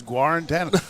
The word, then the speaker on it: Guarantano: How do you pronounce that? I think it's I've always heard Jarrett Guarantano. All right, it's Guarantano.